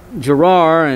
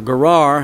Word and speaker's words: Gerar: 20 he went into girar and or Guerard however you want to pronounce it gerar and he had told